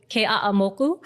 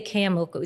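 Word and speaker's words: Keʻeaumoku: of, so it was Ke'a'amoku, but it's not that bad, but it's like every syllable has to be pronounced. Even like you can't say Ke'amoku, it's Ke'a'amoku.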